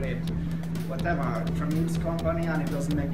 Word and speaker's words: Tramiel: Is it Tramiel or Tramiel? Tramiel. Tramiel, okay. Yeah. Rhymes with Dudwell.